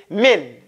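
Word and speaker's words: مِن: lot of people pronounce Min incorrectly it's Min a lot of people do it real thick it's it's you have to make it kind of thin okay okay the next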